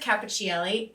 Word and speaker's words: Cappuccielli: Anyway, Capp, C-A-P-P, is short for Cappuccielli. I didn't know it was Cappuccielli. I thought it was Capricelli. Oh, it's I pronounce it Cappuccielli. Some people may say Cappuccielli, or how you ever say it.